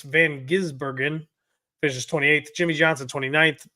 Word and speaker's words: van Gisbergen: finished in7 Shane vanin I've been saying his name wrong the whole time it's van gisbergen finishes 28th Jimmy Johnson 29th John Hunter neek